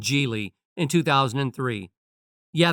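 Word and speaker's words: Gigli: of the romcom called jie in 2003 yeah the title was a bit weird pronounced like gie and the movie didn't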